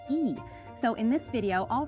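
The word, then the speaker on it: 이: And the family we're talking about is the Lee family, spelled L-E-E. You might think it's pronounced Lee, but people who can read Korean say it's actually pronounced E.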